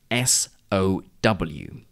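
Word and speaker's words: sow: in the same way but have two different pronunciations and meanings for example the word that is written s-o-w means to put seeds into the ground when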